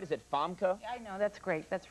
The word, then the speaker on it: Famke: it is though because everybody mispronounces my name all the time they make frka or FY or whatever out of really well FKA that's your name FKA you're a very attractive